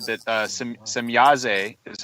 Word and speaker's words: Semjase: then some people say some Yazzie and that's that has a different meaning and it's actually more of a negative meaning apparently if it's pronounced e at the end of her name instead of a Billy